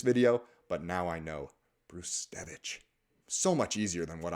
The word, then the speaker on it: Brzustewicz: been talked about enough is of course Hunter brtz bruevich is actually how it's pronounced the first way I said it is